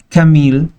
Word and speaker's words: Camille: No sabía al momento de realizar el video, el vídeo, como dicen algunos, que había un panadero llamado Camil, se escribe como Camille, Camil Pirot, panadero del emperador del emperador austríaco Maximiliano de Dasburgo.